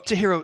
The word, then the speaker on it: Chihiro: I always tell people Chi like Cheerios hero like Superman is how you pronounce it and my last name